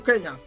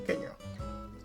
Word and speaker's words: Kenya: So, some have said that this was a precise notation of the African pronunciation, Kenya. Kenya. Okay. So an 1882 map drawn by Joseph Thomson, a Scottish geologist and naturalist, indicated Mount Kenya as Mount Kenya. And that's how the Europeans still pronounce Kenya to this day, Kenya.